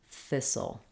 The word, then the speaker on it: thistle: in between soul thistle the first syllable is stress so th is long and soul is short and reduced um you can think of a word like thick to help you remember the vowel sounds and the the first sound so you can think about a thick thistle that helps you and then the other